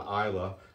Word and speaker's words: Islay: natural color isla's farm distillery so again the isla spelled is lay but pronounced isla well known for their very smoky